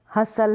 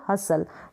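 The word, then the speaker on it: hustle: जैसे ये बसल है, रैसल है, विसल है, हसल है, T का साउंड नहीं आ रहा है, T का यानी ट को हम प्रोनाउंस नहीं कर रहे हैं T के लिए। कासल, बसल, रैसल, विसल, हसल, तो यहाँ पर T जो है इन स्पेलिंग्स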